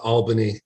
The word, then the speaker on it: Albany: need to be pedantic it's pronounced uh uh Albany and I only know this because there was a huge uh campaign by the the tourist industry uh there was a slogan that said we got it all in Albany just to make people